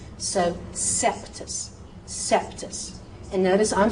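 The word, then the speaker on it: Coeptis: So OE, forget about the O, say the E sound, and so that C goes, that's an E sound. That's not an O sound, so it becomes a soft C sound.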